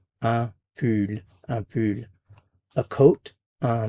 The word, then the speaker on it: pull: un pull un pull, be sure to round your lips here when you're pronouncing this. Pull, and pull. If you don't round your lips, you might end up saying pool, which is a chicken or a hen, so be careful with that.